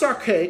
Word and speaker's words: Arce: I think that's how you pronounce his name, Arce.